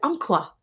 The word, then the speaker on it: Umpqua: Umpqua.